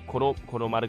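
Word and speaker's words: 虎狼丸: トラ、オオカミ、マルと書いてコロマルと読みます。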